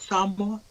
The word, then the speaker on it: Samoa: mean, I didn't know that he left, or he grew up in I don't know how to say it, Samoa.